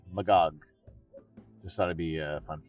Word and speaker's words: Magog: In French, we pronounce Magog similar to the way you say Milady, Magog.